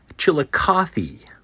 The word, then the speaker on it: Chillicothe: It's pronounced Chillicothe.